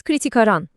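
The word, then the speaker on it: criticarán: İlk fiilimiz kritik aran. Kulağa çok tanıdık geliyor değil mi? Zaten kritik kelimesinden hemen anlıyorsunuzdur. Anlamı eleştirecekler. Bu kaçınılmaz olacak diyor. Telaffuzda sondaki o vurguya dikkat edelim yeter.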